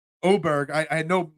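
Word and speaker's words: Åberg: Oberg, I had no idea that Oberg's name was Oberg and not Aberg, but that's a different story.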